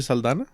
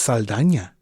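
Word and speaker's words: Saldaña: Zoe Saldana? It's Saldana. Word? They threw the ñ on the end credits on this one.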